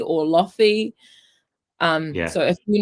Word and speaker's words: lo-fi: how to pronounce it what would you say lo-fi i think it's like because there's like hi-fi and then like a low fidelity is what it is okay i get it